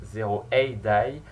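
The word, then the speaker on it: 0 A.D.: Il se prononce 0AD, qui veut dire l'âge de Jésus, donc c'est un jeu qui se passe en l'an 0 comme on peut voir sur l'image.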